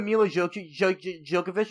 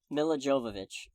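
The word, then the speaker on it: Milla Jovovich: go like as much as i hate the miele djokovic movies like western dutch sorry meal of jova whatever her name is i can't pronounce it nila jovovich thank you i'm also tired okay yeah i'm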